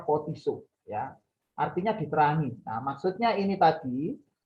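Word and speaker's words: φωτίζω: ini dari bahasa asli photizo yang merah-merah itu bacanya pot isu artinya diterangi maksudnya ini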